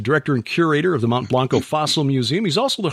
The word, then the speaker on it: Mount Blanco: Well, we anglicize it here because, everybody's a redneck, so we call it Mount Blanco. Okay. Even the Mexicans say Mount Blanco. Mount Blanco. Otherwise, we have to say Monte Blanco.